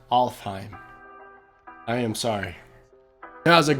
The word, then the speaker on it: Alfheim: In this video, I keep saying Affelheim when I know that in fact it is pronounced Alfheim.